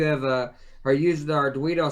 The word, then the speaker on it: Arduino: Oh, Arduino. Arduino.